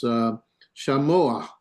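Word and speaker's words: שָׁמוֹעַ: There is no sound for the ayin, so they put this figurative vowel there, and it's shamoah.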